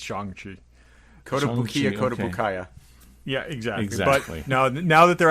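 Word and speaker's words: Shang-Chi: see it and and by the way it's shangji okay so shang i say i've said chiang chi since the 1970s it's chongchi code code now that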